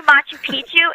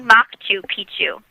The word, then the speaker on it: Machu Picchu: sorry he's doing this but when you say Machu picu you're saying old penis instead of Old Mountain it's actually maku picu and so to me now that I know